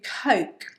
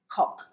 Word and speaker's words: Coke: O as in phone. Tone. Exactly. Yeah. So it's an O, it's a diphthong. Yeah. So your mouth has to move to make the sound O. Phone. O. Exactly. Yeah. Now, if you don't move your mouth with this sound, and if you make an oh sound, okay, like clock, then you are going to